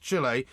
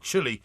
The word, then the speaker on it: Chile: again injury is correct it is pronounced Chile not chili like you're cold the Planck's pronunciation is